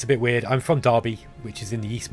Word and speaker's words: Derby: pronounce that Derby but it's pronounced derby with an a like with an a sound and uh yeah so